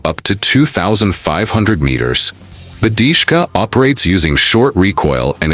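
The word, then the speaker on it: DShK: Dishka, pronounced Dishka.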